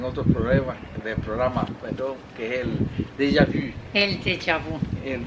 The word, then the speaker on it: déjà vu: Pero es una pronunciación difícil, déjà vu, porque es la U famosa francesa, que a veces es más difícil de decir.